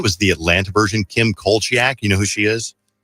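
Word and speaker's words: Kim Zolciak: Kim Coliaak. You know who she is? Uh Kim Soliaak. Siaak is how you say her name.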